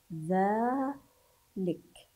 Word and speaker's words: ذلك: انظروا اسمعوا، ذلك أين الحرف الذي نطقته وهو غير موجود؟ إنه حرف الألف بعد الذاء، ذلك، هذا هو، لكنه غير موجود في الكلمة.